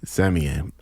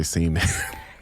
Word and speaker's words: Semien: and I've always been saying your motherfucking last name wrong, but can you say it for me? Semien. Semien. Yeah. I've been calling this nigga Spencer Semien.